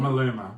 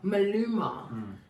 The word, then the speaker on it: Maluma: Maluma. Maluma.